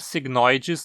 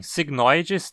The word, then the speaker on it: cygnoides: cisne signos em latim Tecnicamente a pronúncia correta dessa palavra seria signo idades pois esse e que tá na penúltima sílaba e longo mas é tão absolutamente